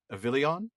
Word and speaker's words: Avilion: Is it Avilion? That's exactly right.